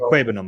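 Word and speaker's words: Okwuegbunam: I like to be correct in my pronunciations. I just avoid it. I just call him Albert. But anyway, it's Albert Aquabenum, by the way. Aquabenum.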